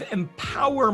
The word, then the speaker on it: EMPWR: Ali, you're the founder of EMPWR Magazine, and it's spelled EMPWR Magazine.